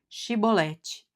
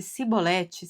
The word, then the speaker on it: chibolete: Se respondesse que não, diziam: "Então diga: Chibolete." Se ele dissesse cibolete, sem conseguir pronunciar corretamente a palavra, prendiam-no e matavam-no Jordão.